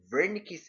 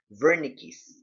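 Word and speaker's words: Wernicke: In contrast, with regards to understanding language, comprehending it, a different part, Vernick's area, it's spelled with a W, but the pronunciation is Vernick's area, is the area of the brain responsible for comprehending both oral and written language.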